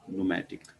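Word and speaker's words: pneumatic: और long bones हमारे पास इसमें होती है न्यूमेटिक। पी साइलेंट है, न्यूमेटिक का मतलब होता है अंदर से खाली।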